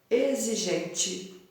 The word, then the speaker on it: exigente: O 8, circule somente as palavras em que a letra X seja pronunciada como na palavra exigente. Exigente. Quais são as palavras que têm o mesmo som do X aqui? Exigente. Som de quê? Som de Z.